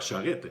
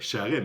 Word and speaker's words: Charest: a toujours apprécié aline charest n'ont pas charrette charest monsieur valls connu qu'il